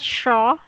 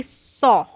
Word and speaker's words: saw: Okay, not shaw. This is how you say it, shaw, but it should be saw. Shaw. Like oh, saw.